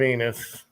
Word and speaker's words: Enos: Anyway, yeah, you gotta love Enos. Rhymes with anyway. Venus. Yeah.